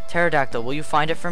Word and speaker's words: pterodactyl: pterodactyl there's no well you don't pronounce the P pterodactyl will you find it